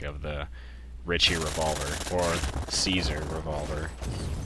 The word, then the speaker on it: Caesar: revolver or caesar revolver which actually is pronounced kaiser if you want to be uh if you want to be picky about it because caesar pronounced in latin as kaiser which is courses king or kaisar but that is neither